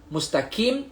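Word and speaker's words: مستقيم: Kita bukan baca kim, K-I-M bukan. Kita baca Q-I-M. Q-I-M Q. Tapi kalau dalam bahasa Roman, Q pun dekat sisi depan. Cuma kalau kita buat ejaan kita romankan bahasa Arab, kita tukar K dengan Q lah. Mustaqim, kita tukar mustaqim. Kaf dengan qaf.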